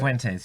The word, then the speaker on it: Fuentes: That how you say it? Fuentes, yes. Fuentes.